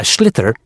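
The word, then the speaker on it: sliotar: this ball called a schlitter that's s SL IO t a r so it's not spelled the way it's pronounced you hit it into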